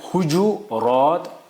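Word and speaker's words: حجرات: उसका जमा आता है हुजू रात हुज रात हुजरात यानी तीन कहे इसकी प्रोनाउंसिएशन तीन एक है हुजू रात हुज रात हुजरात तीन उसके सही है।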